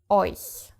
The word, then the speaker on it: euch: EU is pronounced oi. And therefore, if a CH follows, it is soft again. Euch.